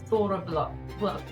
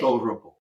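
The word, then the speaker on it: Þorrablót: Thorrablot. Thorrablot. Oh, okay. Roll your R too. Thorrablot.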